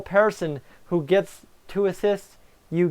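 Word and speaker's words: Persson: where'd he come from Sweden Joel Pearson I had to I had to sorry I had to rigmarole the other of it because I had to get my pronunciation and it's Joel person who gets to assist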